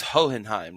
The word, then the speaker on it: Hohenheim: It's Hohenheim, right? Hohenheim? That's it. Like almost like the second H is silent.